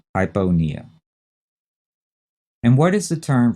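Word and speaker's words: hypopnea: typo nia h-y-p-o-p-n-e-a and again notice in that one the p in panea is not set at all hyponia and what is the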